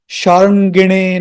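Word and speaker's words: śārṅgiṇe: Sharangine Namah, Sharangine Namah. This na is a retroflex. You have to twist your tongue.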